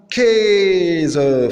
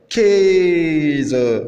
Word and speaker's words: Käse: Le A umlaut phonétiquement c'est le E, comme Käse, fromage. Käse. Et on remarque que le A umlaut phonétiquement c'est prononcé E.